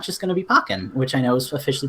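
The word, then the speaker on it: Pokkén: the switch and it's not just gonna be pokken which I know is officially pronounced pokin but I'm gonna continue saying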